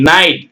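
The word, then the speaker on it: knit: என் ஐ ஜிச் டி நைட் கே என் இல் நெல் சரிங்களா அடுத்தது k என் ஐ டி பாருங்க நெட் கே விட்ரனும் நெட் பின் படிக்கும்போது மட்டும் எழுதும்போது அவசியம் எழுதணும் k என் ஓ பின்னு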